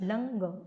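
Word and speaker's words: लङ्: लंग लकार है ये, लंग, इसका उच्चारण ङ होता है, क ख ग घ, लंग लकार।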